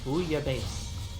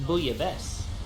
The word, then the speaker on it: bouillabaisse: To correctly pronounce it, you say bouillabaisse. Yeah, boom face. Now the English pronunciation is bouillabaisse.